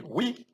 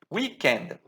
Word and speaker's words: weekend: Cuidado a pronúncia, tá? We, isso aqui, weekend, weekend.